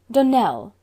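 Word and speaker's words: Donnell: would set it right donel Accent on the last syllable and stclair on no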